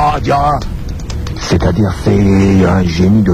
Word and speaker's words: Adjara: Dans la tradition, quand on disait avant Adiara, il faut même prononcer Adiara.